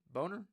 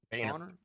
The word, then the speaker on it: Boehner: And you point out, too, that, McConnell and Boehner, is that how you say it? Boehner. John Boehner. Wow. Got that wrong.